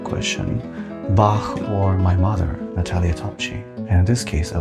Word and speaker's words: Marko Topchii: Today we have here the one and only Marko Topchii. Is this the right way to say it? Almost. How do you say it? Marko Topchii.